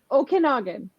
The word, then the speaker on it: Okanagan: Please, how do you pronounce Okanagan? What? Okanagan.